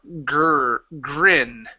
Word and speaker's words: grin: So when we pronounce that R, okay, your lips need to come out.